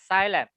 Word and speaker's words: xylem: It's called Xylem. xylem. Okay, how do you spell that?